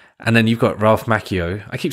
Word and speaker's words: Macchio: I keep saying Macchio, but it's Macchio because it's two C's. Macchio, match. In Italian, two C's is usually... No, actually, do you know what? You might be right. Because that's how he pronounced his name, Ralph Macchio.